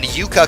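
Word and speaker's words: Yuuka: And then Yuka Kazami, I believe her name should actually have 2 U's in it. It's a long U and not a short U.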